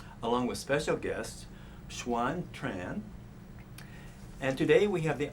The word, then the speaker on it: Tran: r a n as in Nancy it is pronounced Tran and I revers my name actually in Vietnam